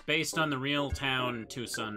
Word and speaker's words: Tucson: real town Tucson right but you spell it like t s or sorry t c o n even I know how to pronounce Tucson Oh you mean Tusan my favorite American town tusin I wonder if people